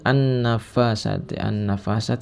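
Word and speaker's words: النَّفَّاثَاتِ: Syarrin naffasati, an-nafasat ini terdapat hukum bacaan asy-syamsiyah karena ada al bertemu dengan huruf syamsiyah nun.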